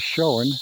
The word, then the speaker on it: Shoen: name of it is Shoen, and it sounds just the way it's spelled, S-H-O-E-N.